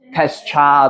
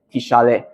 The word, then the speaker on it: Tishale: Alright, a bit of susah punya pronounce Tishale. Okay, bukan Tescha atau Tischel. Okay, Tishale.